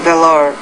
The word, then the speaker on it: valor: Bravery, and valor. And it means... Valor. Bravery and valor. Put stress on the first syllable, not the second.